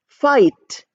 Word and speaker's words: fight: you have fi ght now GH is not pronounced at all we pronounce it as fight f f and I and T so we don't say f f we don't say that we say fight and you know write